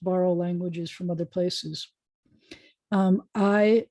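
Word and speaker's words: hay: languages from other places i is spelled h-a-y in modern spanish aidos libros la mesa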